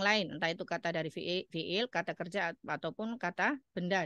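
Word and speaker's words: في: Tidak menyebutnya fa ya, tapi fi langsung disebut seperti itu.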